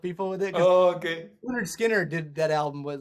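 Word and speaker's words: Lynyrd Skynyrd: try to help people with it oh okay leonard skinner did that album was like 75 or something that it's pronounced you know leonard skinner oh yeah yeah that's pretty cool i kind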